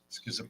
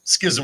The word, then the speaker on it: schism: Schism even more so Schism it's still only two syllables but it's got a lot of s's and H's in it what the Schism like